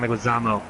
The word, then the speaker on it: Leguizamo: John Leguizamo. And fucking... Should ask Carl how he pronounces John Leguizamo's name.